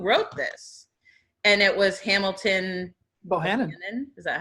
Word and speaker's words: Hamilton Bohannon: And it was Hamilton Bohannon.